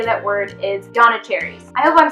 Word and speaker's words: Janissaries: So I was saying Janissaries. And apparently the way you pronounce that word is Yanacharies.